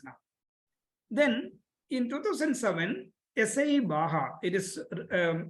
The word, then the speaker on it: BAJA: Then in 2007, SAE BAJA, it is pronounced as BAJA, but it is written as BAJA, BAJA, and Formula SAE came.